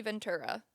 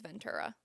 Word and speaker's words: Ventura: The key witness currently is Cassie Ventura. I'm going to say Ventura because I've been saying that forever, but I think it is Ventura the way that you pronounce it.